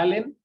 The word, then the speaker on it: Allen: estoy como mi nombre alguien con doble l Allen se pronuncia Allen hay en